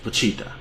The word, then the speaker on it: Vegeta: the ocean dub and they would pronounce vegeta as pachita so if you ever